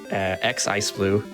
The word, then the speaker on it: xIceblue: me at twitch twitter x iceblue uh the x is silent um i do a